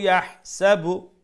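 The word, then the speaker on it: يَحْسَبُ: we will pronounce wa'addadahu yahsabu, like that. Yahsabu, that's a ha, make sure you pronounce from the middle of the throat.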